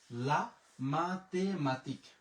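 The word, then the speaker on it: la mathématique: লা মাতেমাতিক, লা মাতেমাতিক।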